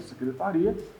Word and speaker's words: secretaria: Que na fala é óbvio, a gente escuta secretária, secretaria. A pronúncia deixa claro do que nós estamos falando.